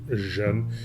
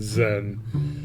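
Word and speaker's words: Xen: I think it's pronounced Jen. It's pronounced more like Jen than Zen.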